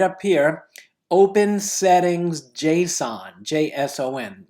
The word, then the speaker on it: JSON: The next thing you need to do is type settings, and notice how it says right up here, open settings JSON, J-S-O-N, it's pronounced JSON.